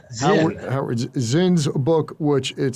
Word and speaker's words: Zinn: Harold Is it Zine or Zine? I never pronounced his name correctly. Zinn.